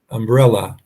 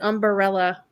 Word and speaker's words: umbrella: You can stand under my umbrella. Yep. Except you got to say it like she says it. Umbrella. Umbrella. Four syllable word.